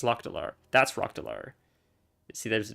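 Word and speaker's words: Lok'delar: I call it Rockdalar. It's Lokdalar.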